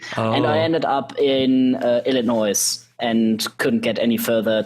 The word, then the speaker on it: Illinois: First of all, the F in Illinois is silent.